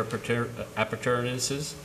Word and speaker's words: appurtenances: Whereas the town board has determined that it is appropriate to consider establishing well fields, tanks, and other appurtenances.